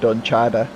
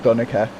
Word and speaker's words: Dunica: Like, my name is Dunica. You know, you might be calling it Dunchada or something, but it's pronounced Dunica.